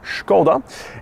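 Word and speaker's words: Škoda: See, Volkswagen own Skoda, or as it's pronounced in its traditional Czech, Skoda, and underneath the sheet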